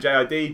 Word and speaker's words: JID: Cole, and J.I.D., Jid, how you pronounce his name, but we've got video now.